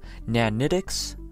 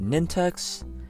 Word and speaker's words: nanitics: to feed them also it's pronounced nanitics not nintex ninantics guys it's it's